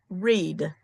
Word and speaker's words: Reid: Read. How do you pronounce the name that's spelled R E I D? read.